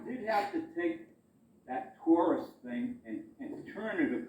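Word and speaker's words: torus: that Taurus cover, and it is a Taurus, it's spelled T-O-R-U-S, like two Russ.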